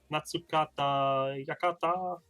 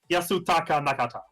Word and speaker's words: Yasutaka Nakata: year some house artist last year we had natsukata jakarta i always get his name wrong it's the guy who produces uh capsule